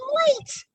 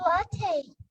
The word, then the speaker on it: latte: It's late. It's pronounced latte, but this is a cappuccino.